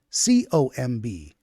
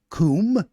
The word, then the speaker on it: comb: pronunciations of like um t-o-m-b tomb c-o-m-b coombe no comb okay c-o-m-b comb b-o-m-b boom no bomb I'm the one that